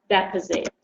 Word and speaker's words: deficit: you use these words when you use deficits as a noun it's deficit and you repeat after me deficits but if you use it as a word the stress changes so it's the same word but the pronunciation is different deposit deposit okay how